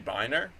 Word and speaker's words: Binre: say benry I say benry benry although after I chose the name benry it occurred to me that like perhaps a more correct pronunciation would be biner so I don't